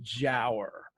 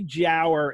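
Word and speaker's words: Giaour: the jower and it's it's spelled g a o Ur as far as we can tell Byron and Company probably pronounced it Jer um it's it's you know there's debate whether it's a hard G or a soft G it seems to be Jer in that time and the jower was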